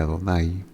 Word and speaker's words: Adonai: Lo que los inventores de estos signos vocálicos querían dejarnos transmitir es que cuando este nombre aparezca con estos signos, se pronuncia Adonai.